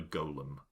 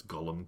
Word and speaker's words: golem: And I was unexpectedly polymorphed into a banana golem. Which I don't pronounce Gollum. Gollum is a character from Lord of the Rings.